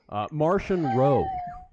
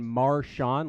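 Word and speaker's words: Marchion Ro: Martian Row. Oh. Like Martian the Manhunter? Martian? Yeah. Or I was for a while, I was saying Marshawn, like Marshawn Lynch, the running back of Seattle Seahawks.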